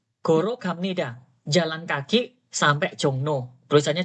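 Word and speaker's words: 종로: gamnida jalan kaki sampai jongno tulisannya jongro bacanya jongno lihat nih tulisannya jongro Bacanya apa jongno ya ya gak boleh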